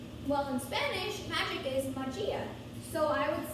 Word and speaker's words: magia: first one is magic so in english magic is spelled m-a-g-i-c well in spanish magic is majia so i would say m a g i